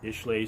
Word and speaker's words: Islay: It is kind of peaty, smoky, but not near as much as how they say it, Islay Scotch.